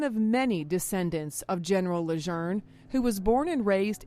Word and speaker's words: Lejeune: World War II veteran George Burroughs remembers his drill instructors in boot camp telling him it's Leger.